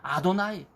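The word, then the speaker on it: אדני: 유대인은 하나님의 이름인 이 신성 대문자가 나오면 야훼라고 읽기 상당히 송구스럽게 생각하고 하셴, 여러분 그렇게 발음합니다. 혹은 아도나이, 나의 주님, 이렇게 발음을 합니다.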